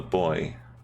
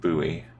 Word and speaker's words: buoy: a buoy yeah I I call it a boy but I know in America they kind of pronounce it buoy it's a bit like